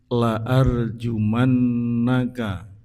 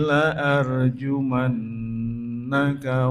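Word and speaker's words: لَأَرْجُمَنَّكَ: La kawaos pendek seharakat. Jadi membacanya laa. Ketika kita membaca panjang lajumannaka artinya malah kebalikannya. Jadi kalau lajumannaka, sungguh akan aku rajam kamu, akan aku hukum kamu. Tapi ketika kita membacanya dibaca panjang la artinya tidak lajumannaka.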